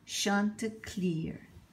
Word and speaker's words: Chanticleer: Chanticleer and the Fox I think before the name you must have been Shanta PA in French but I guess we have to pronounce it Chanticleer so let's see what's